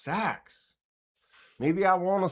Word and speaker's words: seax: Sex is pronounced sax. Maybe I want to say six.